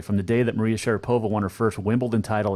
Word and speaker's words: Sharapova: out because it's Maria Sharapova or actually Maria Sharapova is the correct pronunciation but Sharapova and yet it's not a